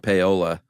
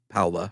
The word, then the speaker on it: Paola: one in Kansas specifically you said Paola I bet you there are people there laughing because it's probably pronounced Paola or something probably uh but who